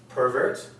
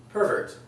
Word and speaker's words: pervert: The accent is here for the noun, okay?